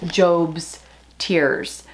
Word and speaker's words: Job's Tears: It's spelled J-O-B, like job, but I think it's Job's Tears.